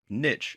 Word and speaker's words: niche: To get started and to do the same, you're going to have to choose the niche, or niche as it's sometimes pronounced, that you want to focus on.